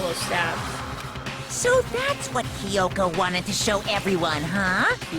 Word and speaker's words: Kyoko: stabs so that's what kyoko wanted to show everyone huh i've been calling her kyoto this whole time kyoko wow i literally i'm sorry chad and everyone watching i'm pronouncing her name wrong this whole entire that